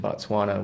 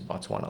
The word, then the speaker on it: Batswana: more prosperous for Americans Batswana alike. Batswana. Let me let me correct my pronunciation there. Yeah, Batswana.